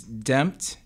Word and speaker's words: DEMPT: my artist name is damped de MPT as in redemption I live in New